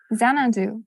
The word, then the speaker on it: Xanadu: number 16 is uh zanandu am I pronouncing that correctly Xanadu okay yeah like uh the capital of the Mongol Empire in northern China but then in English